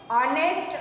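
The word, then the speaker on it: honest: किंवा ऑनेस्ट ह्याचं spelling H ने सुरू होतं, पण त्याचा जो उच्चार आहे तो ओ पासून हे स्वर असल्यामुळे आय एम अन ऑनेस्ट person असं आपण म्हणू.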